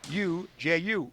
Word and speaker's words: Uju: That's spelled U-J-U, Uju.